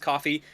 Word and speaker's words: Ko-fi: Yes, it's pronounced coffee. Yes, it is also spelled Ko-fi.